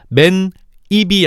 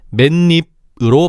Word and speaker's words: 맨입: 따라서 맨 입이 아니라 니은이 첨가된 맨입으로 발음해야 되는 거야. 물론 표기는 맨 입이지.